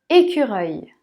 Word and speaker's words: écureuil: la police le dernier écureuils et qu rei est qu reuil et la leçon il se prononce comme eux et qu reuil écureuils